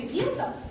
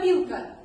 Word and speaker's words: вилка: Позовем слово «вилка». Вилка. Ударение падает на «и».